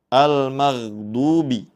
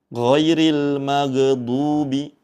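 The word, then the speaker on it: الْمَغْضُوبِ: Kemudian yang perlu kita perhatikan berikutnya yaitu pada kata al-maghdubi. Al-maghdubi. Huruf ghain sukun membacanya dengan dialirkan. Jangan sampai dibaca memantul. Ghairil maghdubi. Nah, itu tidak tepat, ya. Namun yang betul yaitu dengan cara dialirkan.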